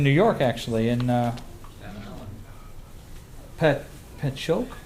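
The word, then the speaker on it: Patchogue: And then shortly after that there was a Masonic killing in America in in New York actually in uh Pat Pchoke. How do you pronounce that? Patchock.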